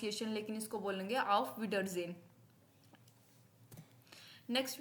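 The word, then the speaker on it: Auf Wiedersehen: you again या बाय को हम बोलते हैं आफ विडर जन ऑफ विडर जन क्या बोलेंगे आफ विडर जन हां मुश्किल लग सकती है प्रोनाउंस एशन लेकिन इसको बोलेंगे ऑफ विडर जन नेक्स्ट वी हैव इ सी यू टुमारो सी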